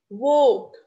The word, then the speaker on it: walk: Walk, walk, the same thing.